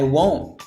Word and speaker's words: won't: So this sounds like I won't. The rest sounds like lie about that. This T, because it's before a TH sound, isn't pronounced.